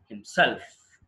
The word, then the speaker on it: himself: ourselves, himself అంటే wrong. ఎక్కడ ఇవ్వాలి స్ట్రెస్ మనం? హిమ్సెల్ఫ్. హిమ్సెల్ఫ్ అని. అది గుర్తుపెట్టుకోండి, చాలా ఈజీ గుర్తుపెట్టుకోవడం.